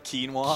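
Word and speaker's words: Quina: $10 to name quna quinoa quinoa which I prefer to pronounce quino that that's that's pretty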